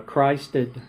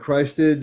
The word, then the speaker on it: Christed: to happen that I mean the words uh Christed like uh Christ and then ed Christ yeah so you pronounce Christed uh or cosmic you can do cosmic Christed star family.